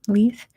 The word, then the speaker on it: Leith: in Leith Edinburgh that's how you say it Leith what is the name of the former Royal yacht of Queen Elizabeth II which operated from 1954 to 1997.